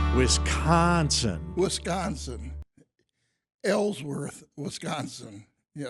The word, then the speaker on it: Wisconsin: Ellsworth, Wisconsin. Yes. With a long O in Wisconsin.